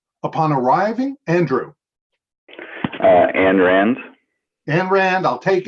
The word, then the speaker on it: Ayn: The first name rhymes with pine. Upon arriving, Andrew. Ayn Rand.